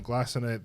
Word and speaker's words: glycinate: When someone was to take magnesium that's not glycinate, Glycinate. glycinate. You're doing your K. It's a soft C.